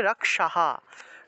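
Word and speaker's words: রক্ষাঃ: এই ক্ষেত্রে উচ্চারণটা হবে রক্ষাহা, রক্ষাহা। বিসর্গের আগের যে অংশটা থাকে, বিসর্গের আগের অক্ষরের কার চিহ্নটা সেই হয়ের সাথে যুক্ত হয়, বিসর্গ থাকলে হ উচ্চারিত হয়।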